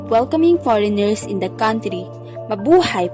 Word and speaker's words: mabuhay: visitor experience from ecotourism next is the word mabuhay this became a well-known greeting in the philippines as a way of welcoming foreigners in the country mabuhay pronounced as ma hu hai is a tagalog word